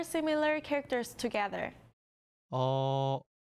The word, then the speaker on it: 어: Listen carefully to the pronunciation. 어, Now pay attention to these 2 characters. It might be easy to confuse the 2. If the small strokes is on the left, it is A. 어, If it is on the right, it is